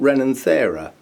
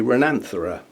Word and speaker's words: Renanthera: definitely know no guessing is this rananthera or renin thera i've always pronounced it renin thera but i've heard others say renanthara it's the same letters in the same order and quite honestly it doesn't